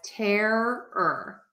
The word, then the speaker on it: terror: start there all right I would pronounce that as terror terror okay that being said I link or connect my r to the ER so I connect that air and the ER together and so to some